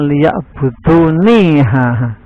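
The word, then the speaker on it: ليعبدون: insa illa liya'budun illa liya'buduni. Cuman dibaca illa liya'budun karena ninya itu tidak ada yaknya, sebetulnya aslinya ada yaknya liya'buduni tapi dibuang. Tapi tetap membacanya ila liya'budun, kecuali kalau diteruskan, yang artinya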